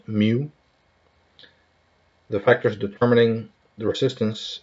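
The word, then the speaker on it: μ: in degree by the Greek letter micro or pronounced mu the factors determining the resistance in a magnetic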